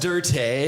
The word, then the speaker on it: Dirt: Well, so it's pronounced Dirte, excuse me.